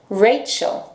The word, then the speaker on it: Rachel: Por exemplo, meu nome começa com R e depois um vogal. Então, ela vem antes do vogal, nós vamos pronunciar Rachel, Rachel.